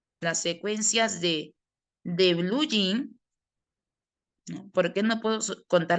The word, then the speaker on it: jean: Aquí, ¿cómo lo pronuncia el gringo? Yin. Él no dice jean, dice yin.